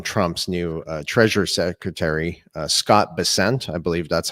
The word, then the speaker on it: Bessent: the statement from Trump's new Treasury Secretary, Scott Bessent. I believe that's how you pronounce his name.